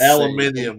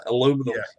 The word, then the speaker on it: aluminium: uh aluminium is how the the the bricks aluminium yeah aluminum aluminum yeah army needs to stick with the